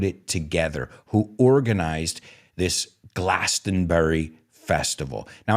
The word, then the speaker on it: Glastonbury: together, who organized this Glastonbury Festival. Now, I know the British say Glastonbury. I think they don't say Bury, Glastonbury, but Americans say it our way, even though it's their festival.